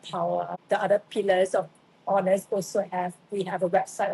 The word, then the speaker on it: Awenessly: Last year, I founded Honest, spelled as you can see, Awenessly. And it's pronounced exactly as honest.